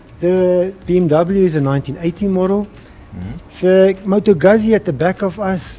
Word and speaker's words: Moto Guzzi: how do you pronounce it? Moto Guzzi? Moto Guzzi.